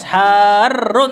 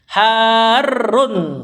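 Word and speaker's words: حارّ: Cuma karena ketemu dua huruf jenis ditasdid, makanya bacanya harus tetap panjang. Harun sesuatu yang panas. Kalau dibaca pendek nanti jadi masdar.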